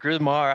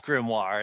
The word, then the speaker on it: grimoire: speak uh speech chris you used the word grumar i think you pronounced it gizmo and we're fishing for i think it was grimoire is what you were fishing for and since